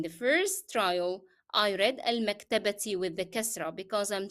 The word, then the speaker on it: المكتبة: However, when I am reading it in the sentence and I stopped on it, I dropped the pronunciation of ta marbuta as ta and I replaced this with he. And I also dropped the pronunciation of the short vowel kasra.